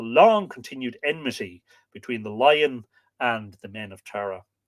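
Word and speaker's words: Laigin: continued enmity Between the Lion and the men of Tara but the connection of the lion or la la it's here spelled l-a-g-i-n the Lagan the lion with the death not l-i-o-n by the way with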